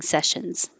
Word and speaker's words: sessions: I now offer private coaching sessions, and it doesn't look like it, but these S's are a sh sound. Sessions. If it sounds like sections, you're stopping the airflow